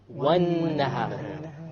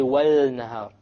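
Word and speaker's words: والنهار: Therefore, how do we pronounce it? Wan-nahar. We didn't say wal-nahar. We dropped the lam because it is a solar letter.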